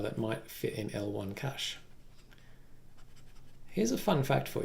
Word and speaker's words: cache: I'm saying cache, but one of the sort of the Australian way to pronounce that is actually cache. And I believe that Australia is the only country that actually, the real pronunciation of that is actually cache, not cache.